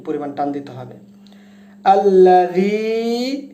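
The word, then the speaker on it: الذي: আল্লাযী, এখানে 3 আলিফ পরিমাণ টান দিতে হবে।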